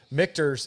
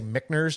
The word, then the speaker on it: Michter's: Michter's is, and I always say it wrong. I know it's Michter's, but I always say Michner's just because that's how it comes out of my mouth.